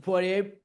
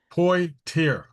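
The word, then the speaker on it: Poitier: Poy tier po like toy poier poier.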